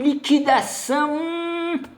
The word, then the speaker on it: liquidação: comprar no liquidificador e liquidação essa confusão ocorre porque os grupos g u i q u diante de e ou i u não deveria ser pronunciado seria fonema apenas diante